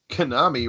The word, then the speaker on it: Konami: had that that arcade konami rhymes with salami i'm not familiar with